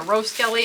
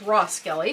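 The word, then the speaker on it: Roskelley: by Camille rosskelly which I was told I was saying her name wrong I seen her roast Kelly and I guess it's raw Skelly so I'm sorry about that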